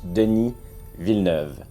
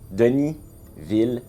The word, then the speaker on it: Denis Villeneuve: about the movie and yes it's pronounced Deni V Deni V why is it so